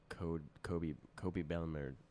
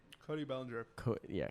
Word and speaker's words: Cody Bellinger: And I said I'm never gonna make him $11 million like Kobe Bellinger. How do you say it? Cody Bellinger.